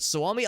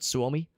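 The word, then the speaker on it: Suomi: Far Side is it soami I is I pronounce it soomi I saw there was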